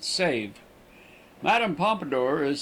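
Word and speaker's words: Sèvres: The name of the town is pronounced save.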